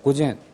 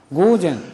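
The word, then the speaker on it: 午前: 여기에 잘못 발음해 갖고 길게 발음하는 경우가 있어요 고젠 고고 이렇게 발음하면 틀리게 되죠 전부 다 짧아요 고젠 그다음에 고고 이렇게 됩니다 해보세요 고젠 고고 고고음 이렇게 짧아야 고젠 또는 고고 이런 식으로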